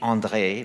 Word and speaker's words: André: a problem as well it's Andre but it's really Andre but it's if you pronounce it that way then you have to roll the arse which is not correct in Paris and so you have